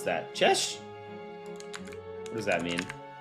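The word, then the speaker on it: Cześć: I don't know how to pronounce that. Chesh.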